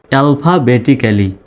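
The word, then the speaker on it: alphabetically: পি এইচ এ ফা আমরা জানি পি এইচ তে কি হয় ফয় এল এল পি এইচ এ ফা এলফা বি ই বে টি আই টি সি এ ক্যা ডাবল এল ওয়াই লি ডাবল এল আছে জন্য ডাবল এল উচ্চারিত হবে না একটা এল শুধু উচ্চারিত হবে অ্যালফাবেটিক্যালি মানে বর্ণমালা অনুসারে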